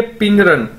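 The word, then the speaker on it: 病人: पिंग रन मतलब patient, इसे हम कैसे बोलेंगे, पिंग रन। चाइनीज के अंदर बी को हम पी के तौर पर प्रोनाउंस करते हैं।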